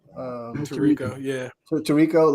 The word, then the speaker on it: Tirico: Tirico, yeah.